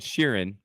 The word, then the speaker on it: Sheeran: sharon it's not sharon ted sharon it's ed sheeran but i call him ed sheerhan because we are going to pronounce things as they're spelled otherwise don't spell